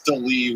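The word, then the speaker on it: D'Lee: Her name is Delee, which is spelled D''Lee.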